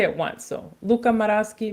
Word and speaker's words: Luca Maraschi: I only have to say it once so Luca maraski Mateo Colina okay all right cool all right